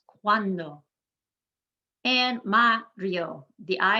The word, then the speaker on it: cuando: the second to last the u and the a in cuando work together cuando one one syllable there in the first part one syllable at the end we emphasize the second to last cuando and ma rio the